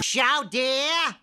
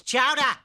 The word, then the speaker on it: Chowder: be watching some chowder shout dear shout dear it's chowder say it right chowell and if